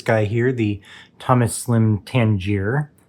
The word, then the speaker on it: Tangier: here, the Thomas Slim Tangier. I did notice in my uh unboxing impressions that I did uh pronounce the name of the pen wrong. It is the Tangier, not the Tangiers.